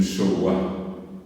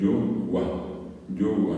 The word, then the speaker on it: yogua: que estamos estudiando, que puede muchas veces darse la pronunciación shogua, confundiendo a veces ya se con ya ye. En este caso es yogua, no es shogua.